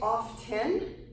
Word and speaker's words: often: run I always run another example so it's often often so really you could say it's off ten or you can say often native speakers